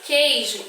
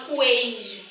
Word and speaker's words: queijo: Quando eu falo a palavra queijo, eu não pronuncio a vogal U. Eu falo assim, ó. Queijo. Eu não falo coejo, eu falo queijo.